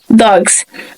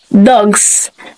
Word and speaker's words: dogs: so we have dog when we add s it should not pronounce as dogs it should have a vibration in our vocal track so it should be pronounced as dogs dogs so second we have